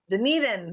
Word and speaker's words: Dunedin: event in a rugby stadium in how you pronounce doing it in I don't know any nothing Dunedin yes the man who speaks four languages yes